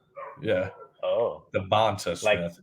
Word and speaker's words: DeVonta: It's Debonta. I had to look it up too. He's kind of a different, like a capital V. Yeah. Oh. DeVonta Smith.